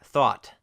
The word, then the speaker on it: thought: Many words in English are spelled with a GH, and that GH is almost always silent, like thought, or through, or high. There's no sound at all.